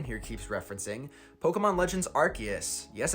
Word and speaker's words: Arceus: one which brandon here keeps referencing pokemon legends arceus yes it's pronounced arceus which is just this big game and we